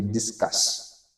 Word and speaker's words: discuss: En anglais, dans la prononciation, vous pouvez constater on dit discasse. Voilà. Parce que euh u souvent se prononce en a.